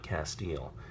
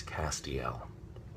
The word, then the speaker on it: Castiel: in and they will say how do you pronounce your character's name is it Castile and I will say no it's not Castile it's Castiel and that's very important that on the page